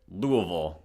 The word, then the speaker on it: Louisville: official but it's not so damn all right Louisville that's how you pronounce it louville you got get all the schwaz in there